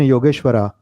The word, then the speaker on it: योगेश्वर: हालांकि मैं जानता हूं कि परमेश्वरा योगेश्वरा नहीं बोलना चाहिए, योगेश्वर परमेश्वर है, पर ये स्पेलिंग है.